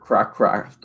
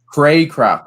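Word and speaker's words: Cracraft: got 29 roots and River crack craft or what is his name crack River Craycraft Craycraft that's how you say it with 16 and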